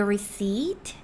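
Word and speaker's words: receipt: Do you need a receip? Do you보다는 receiv라고 써 있는 거 같지만 receip 이렇게 long e 사ound를 내시고 여기 p는 소리 내지 말아 주세요.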